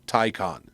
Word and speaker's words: Taycan: But yeah, Enrico Palazzo wants to know how Taycan is pronounced. It's pronounced Taycan.